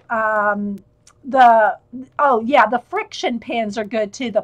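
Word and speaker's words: Frixion: are good too and it's r i x i o n friction i think that's how they pronounce it that's how i pronounce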